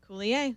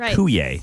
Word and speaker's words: Coulier: The L is not silent. That's the big one, right? It's not kuay.